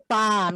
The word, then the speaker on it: palm: First is mango and second is palm. Palm, yes. Children, keep in mind, L is there, you will not pronounce it.